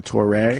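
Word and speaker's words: Touré: Toure, because they had that thing over the E. That's why you go Toure.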